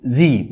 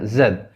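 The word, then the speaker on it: Z: بعد كده دبليو واكس وواي اند زي. وزي دي امريكان، اما بالبريتش اسمها زد.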